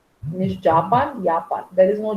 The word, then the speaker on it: Japan: No, I'm from Japan. Ja? Auf Deutsch sagt man Japan. Nicht Japan, Japan. There is no J. J is pronounced as Y in German.